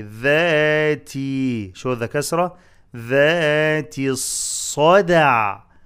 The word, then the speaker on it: الصدع: ذاتي الصدع صدع صدع قلقلة اندال make the صد heavy and dal light with قلقلة.